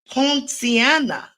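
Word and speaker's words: poinciana: googled it I said oh I may be pronouncing it improperly it's piana p o i n c i a N a homeiana tree.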